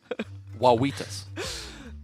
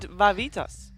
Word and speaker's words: Wawitas: I got a crash course on how to properly pronounce it, but apparently, even though I think I say exactly the same, it's not. So Wawitas. I hope I did it right. Wawitas, because I did Vavitas, Yeah, which but it's is a wa.